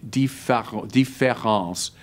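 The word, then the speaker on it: différance: Différence just means difference, but if you spell it with an A instead of an E, différence, it means deferral.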